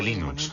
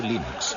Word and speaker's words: Linux: categoría fácil es y cómo se pronuncia Linux bueno John Linux lo pronunció Linux sin embargo si fuese Linux no hay duda de que lo pronunciaría Linux Claro que si uno es de la costa oeste de los Estados Unidos lo más seguro es que lo pronunciaría Linux pero a Linux le importa un bledo como pronunciéis Linux siempre y cuando lo